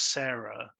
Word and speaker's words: CERA: So, I mean, the thing is, watching it and knowing how the name CERA was spelt and the way it was being pronounced as Sarah in the film, it was obvious to me that she was a robot.